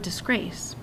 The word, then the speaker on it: disgrace: to be stressed so the word disgrace I can't change it it has to be the second syllable grace that's emphasized the word fortune I